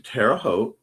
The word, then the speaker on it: Terre Haute: Going tomorrow to to have some lunch with cool cousins, then to Terre Haute, rhymes with boat, on Sunday with them for some time with Daniel.